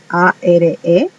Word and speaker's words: are: Se escribe A-R-E y se pronuncia are. Ahí la E no tiene sonido.